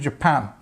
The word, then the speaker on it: Japan: at this word J and then of course this a is very strong a sound Japan Japan and we've got the the stress on the second part of that word next one the meeting